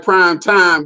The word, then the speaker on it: Prime Time: It's spelled like prime time, but see, the M is silent.